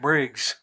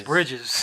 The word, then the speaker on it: Bridges: you said keto yeah she also said Jeff Briggs is it not Briggs pretty sure it's Bridges oh my God spell